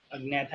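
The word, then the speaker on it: Agnatha: अग्नैथा इसका ए साइलेंट है, इसको नैथा मत बोलना, इसका ए साइलेंट नहीं है, अग्नैथा ही बोलेंगे, या फिर नैथा अगर आप बोलना चाहो तो इसे नैथा बोल दो।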